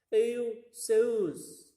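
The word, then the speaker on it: Ἰησοῦς: Cara bacanya sesungguhnya seperti apa? Euseus ya.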